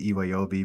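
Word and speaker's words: Iwobi: Shout out to Z-Way as Sophie Iwayobi, and I will pronounce it Iwayobi because soccer player Alex Iwayobi pronounces it that way, so that's what I'm gonna do too.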